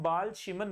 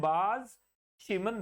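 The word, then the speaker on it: Balz–Schiemann: reaction को कहते हैं बाल शमन रिएक्शन क्या कहते हैं बाज शमन रिएक्शन एल साइलेंट होता है तो बैज शमन रिएक्शन बोलते हैं उसको तो ये फ्री रेडिकल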